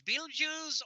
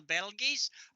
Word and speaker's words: Betelgeuse: I did kind of drop the long E, so I always pronounced it Betelgeuse. So as far as I'm concerned, you can either pronounce it the way everybody does nowadays, Beetlejuice, or the old style Betelgeuse. I will accept the definition either way.